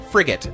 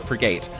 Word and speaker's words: frigate: last episode they're like it's frigate not frate I can pronounce it